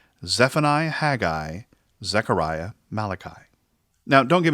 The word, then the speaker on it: Haggai: it's simply pronounced habakkuk and haggai is just a two-syllable word not haggy i haggai let me tell you